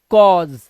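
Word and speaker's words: cause: ऐसे ही क कॉज क्योंकि लास्ट का ई किसी भी वर्ड के लास्ट में आता है उसको हम नहीं पढ़ते हैं तो कॉज ठीक है इस तरह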